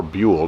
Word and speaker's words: Bul: you'll see that it has bull or bule depending on how you want to pronounce it uh MS2 Red Dot